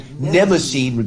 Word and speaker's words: Mnemosyne: And Mnemosyne, because the M is silent, but it's MN. Mnemosyne is the goddess of memory.